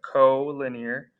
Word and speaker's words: collinear: call some things collinear that's how you pronounce that co-linear and coplanar collinear and